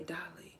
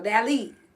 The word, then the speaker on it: Dally: Okay, listen, I be wanting, I don't know why I want to say Dolly. Like, it makes me want to say it so to me, Dolly is the proper way to say it. But Dallas, hey, yo, Dally. Okay, I got you.